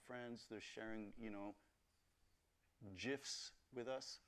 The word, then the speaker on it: GIF: they're sharing you know gifs with us soft G folks it's a soft G I just I just